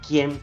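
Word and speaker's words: CIEM: infraestructura de la nube conocidas como Ken en inglés aunque se escribe cem con c en español también ayudan a evitar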